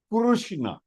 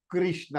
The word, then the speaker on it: कृष्ण: So when we say kuru, Kurushna is the right pronunciation in Sanskritam.